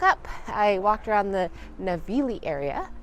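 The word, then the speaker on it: Navigli: I walked around the navili area I learned that the g is silent on the last day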